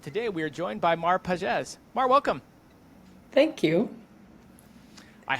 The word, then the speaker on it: Mar Pages: it at the outset so many people say it Mar Pages which if you're English that it is how it looks but um hey you